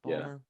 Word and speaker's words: Ballmer: Ballmer.